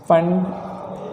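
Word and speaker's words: Pfund: फंड, P silent है, series, ठीक।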